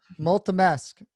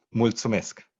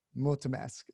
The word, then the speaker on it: Mulțumesc: Multimesk. Did I say it right? No. Finally. Thank you so much. It's Mulțumesc. Mulțumesc.